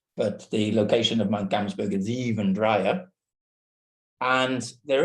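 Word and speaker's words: Gamsberg: So the telescope itself is going to be put on a mountain in Namibia called Mount Gamsburg or Kamsburg if you use the African pronunciation.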